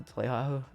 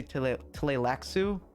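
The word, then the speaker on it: Tleilaxu: an allusion to the Tlelahu. Listen, I like to pronounce Tlelahu like that. But I remember reading like or listening to an audiobook and they say Tlelaxu, and I hate that.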